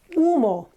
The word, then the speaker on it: humo: Okay, another one is humo, smoke. Okay, again, H is not pronounced. All we say is humo. And be careful, we don't say, or the Spanish don't say, or we don't say when we speak Spanish, and you shouldn't either, humo, humo.